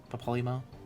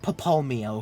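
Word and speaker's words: Papalymo: keep saying it hmm Papa limo versus papal meow papalimo wait what wait how do you say it Papa limo I changed it right now in the day I'll be real okay it's definitely not papel Mio because the Y is before the m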